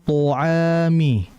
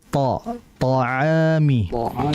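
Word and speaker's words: طَعَام: Jangan to'ami ya, jangan to'ami, yang betul ta'ami.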